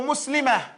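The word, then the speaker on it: مسلمة: However, when you stop on the tar marbuta, you pronounce it as a ha. So here, that's when you read this, you say muslimatun, muslimatan, or muslimah.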